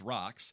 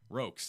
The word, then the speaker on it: Rocks: Stowe Rocks, remember it's Rocks, 65. What's Jordan call it? Rokes. Stowe Rokes. It's because I don't spell it out in the script, R-O-C-K-S.